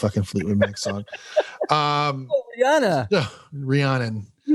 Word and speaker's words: Rhiannon: the song rhiannon rhiannon rhiannon i think is how you pronounce it say rihanna get under my umbrella or is a different one no no rhiannon it's not ryan and rhiannon we're supposed to know